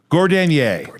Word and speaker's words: Gordanier: Gordanier.